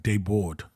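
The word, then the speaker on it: Desbordes: Bordes, but it's pronounced like Deboard. Oh de. Yeah. Like the S's are silent, but I think it's I think it's German.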